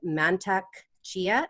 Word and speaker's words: Mantak Chia: has since learned the microcosmic orbit from master mantak chia is that how you pronounce that yes great Tantra from Charles Muir